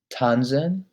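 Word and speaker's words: tanzen: write schreiben to write tanzan to dance tanzan to dance you really want to emphasize the z the nz the tanzan to dance um fernstein to watch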